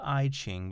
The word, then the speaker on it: I Ching: that oneness you may have heard of the e ching the english spelling is i and then the next word is ching c-h-i-n-g spelled i-ching but pronounced iching this is sort of a map